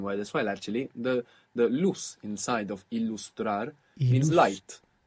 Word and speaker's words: luz: And the word luz, L-U-Z, so actually this Z would be pronounced th in most of Spain. Luz. Ilustrar. But in the rest of Spanish-speaking world, Ilustrar.